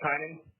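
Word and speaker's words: Tynan: your first name um my first name was spelled with capital t and it's spelled with lowercase y n a n and it's it's pronounced timing the office of administrative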